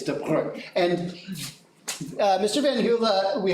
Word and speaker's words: de Broglie: It's de Broglie.